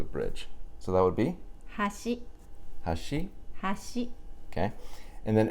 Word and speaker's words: 箸: each one first so chopsticks starts high think of trying to reach a tree like a fruit or something high and bring it down with your chopsticks so how do you say chopsticks Hoshi okay one more time